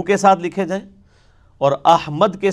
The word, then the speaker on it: احمد: احمد لفظ تو نہیں, یہ احمد ہے, میم کے اوپر زبر ہے.